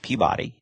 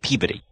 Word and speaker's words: Peabody: I got up here I pronounced it Peabody and everybody got mad at me and everybody goes no that's the dog with Sherman CU they pronounced it pey so so I things I